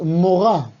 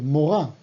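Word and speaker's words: מורה: Maestra es morá. Fíjate que se escribe igual que moré, pero se pronuncia diferente, morá.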